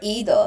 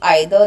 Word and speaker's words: either: Where do we use either or either? So both pronunciations are acceptable. One is American and one is British. So both are acceptable. There's no right or wrong. If I'm saying either, then also it is correct.